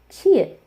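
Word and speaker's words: 치읓: used as a coda, so there is no pronunciation rule. And we have our first aspirated consonant, Chia, Chia.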